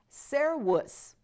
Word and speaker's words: servus: Remember, our V is pronounced like a W, so weir. Servus, same V.